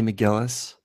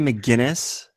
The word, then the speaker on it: McGillis: were coming from well you guys remember JT's mispronunciation of Kelly McGillis well of course she said Kelly McGinnis yeah so when I